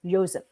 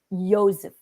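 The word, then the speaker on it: Yosef: in Hebrews Joshua Joshua Joseph is not pronounced Joseph it's like Joseph Joseph y-o-s-e-f p-h is Greek so what's Jesus it's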